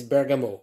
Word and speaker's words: bergamot: the second one is bergamo or bergamot it depends how you say it these two oils can